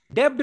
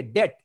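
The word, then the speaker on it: debt: डेब्ट नहीं बोलेंगे, डेट, DET। यानी बी को साइलेंट कर लो।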